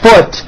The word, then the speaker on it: foot: But the word foot is also spelled with a double O, but it is pronounced with a lower vowel sound.